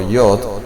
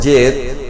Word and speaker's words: yod: La pronunciación vocal de esta letra hebrea se encuentra al decir yod, ya que esto le da el sonido, esa letra. Como ejemplo, no es yed o ye o yet, sino yod, ¿sí?